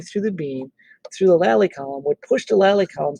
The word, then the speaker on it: lally column: It's not a lolly column like a lollipop. It's a lally column.